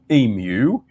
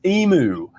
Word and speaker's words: emu: the wonderful ratte bird known as The Humble emu in Australia but he pronounced it as emu taking the more phonetical sound of because of